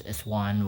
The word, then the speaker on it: ISO: Some people say it's like I S N O but actually pronounce is one word ISO.